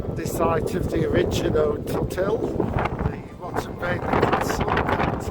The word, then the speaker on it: Rhuddlan: The lady behind the desk told us that the pronunciation of the Welsh name was Rhuddlan. So the Welsh, this is not Rhuddlan Castle, this is Rhuddlan Castle.